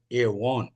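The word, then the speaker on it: עָוֹן: गया पहला शब्द है एवन एवन spelling A वी ओ एन एवन उसका अगर उच्चारण अगर सही होना है अंग्रेजी में लिखेगा ए डब्लू वी ओ एन ई एवन एवन दूसरा शब्द यहां पर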